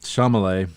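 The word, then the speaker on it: Chalamet: Shamallay.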